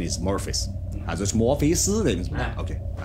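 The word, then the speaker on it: Morpheus: Pronunciation is Morphis.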